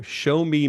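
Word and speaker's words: Xiaomi: two models here actually one is is the show me and I hope if I'm pronouncing that right x i a o Mi I show me my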